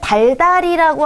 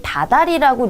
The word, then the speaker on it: 다달이: 원래 달 플러스 이가 붙은 거거든요. 그런데 달달이라고 하지 않고 우리 다달이라고 리을이 탈락된 채로 발음을 하잖아요.